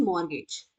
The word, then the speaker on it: mortgage: Next is मोरगेज। इसमें T silent होता है।